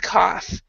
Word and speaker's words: cough: then the the third the fourth one though is pronounced and it's an F sound cough cough cough cough